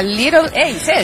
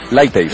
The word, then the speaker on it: Light Ace: ¿Qué es la Little Ace? ¿Es? Light Ace. Light, sí. Ace, ve, ahí está. Bien esta, pronunciado.